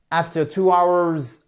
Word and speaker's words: hour: des locomotives à vapeur hours of run r out of steam alors attention our c'est un de ces rares mots en anglais où on ne prononce pas le H donc ce n'est pas